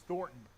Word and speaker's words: Thornton: It rhymes with Scorton. It's Thornton.